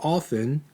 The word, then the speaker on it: often: okay frequency represents how often you're not supposed to pronounce the t right but how often right it completes a